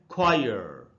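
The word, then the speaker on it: choir: इसको हमको पढ़ना चाहिए ब्रिटिश इंग्लिश में लास्ट वाले आर का उच्चारण नहीं होता बट अगर अमेरिकन में इसको बोल रहा हो तो हम बोलते खैर लेकिन ब्रिटिश इंग्लिश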